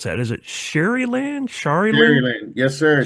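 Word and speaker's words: Sharyland: grew up in South Texas how do you pronounce that is it Shar land sh sh yes sir Sher land very proud to be from there it's uh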